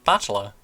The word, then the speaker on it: Battler: is my given name those two are made up of the characters for fight and person and it's pronounced battler put it all together